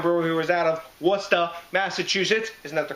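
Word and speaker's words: Worcester: it's from wormtown Brewer who was out of Wasa Massachusetts isn't that the correct pronunciation Dave Wasa Massachusetts and what beer is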